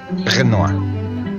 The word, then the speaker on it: Renoir: Así es, este pintor de apellido Renoir, o si lo queremos leer en castellano, pues sería Pierre Auguste Renoir. Lo correcto es pronunciarlo en francés como Pierre Auguste Renoir.